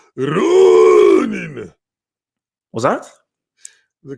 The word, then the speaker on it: Ronin: I believe the correct way to pronounce it is Ronin. Was that? The correct way to pronounce it is Ronin.